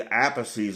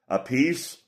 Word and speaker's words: Appice: fans know that's Vinny Appice's older brother. Now, why they pronounce their last name different, I don't know. It's spelled the same. Appice, Appice. I guess one of them wanted to be different.